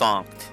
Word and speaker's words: Sankt: Oh, it's pronounced Sankt, excuse me.